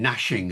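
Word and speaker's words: gnashing: Though that silent G in nashing of teeth, you see, was pronounced.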